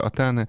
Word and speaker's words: Атени: Це грецька літера Т. Читається вона як Т. Але в якийсь момент, оскільки Україна була під владою Московії, то ее та літера Тета, тобто Атени і так далі, Етер почала читатися як еф.